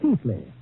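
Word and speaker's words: Keighley: my ancestral town of Keeley well pronounced in England Keithley although how they made Keithley out of keig GLE y I'll never know but that is my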